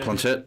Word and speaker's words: planchette: Is that how you pronounce it? Yeah, Planchette? Yeah.